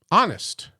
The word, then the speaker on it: honest: The T is silent. Okay. Great. Um, honest.